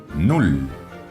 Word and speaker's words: null: Null. Null. Aquí vemos claramente que la doble L, aunque tampoco es demasiado característica en el alemán, se pronuncia como una sola L.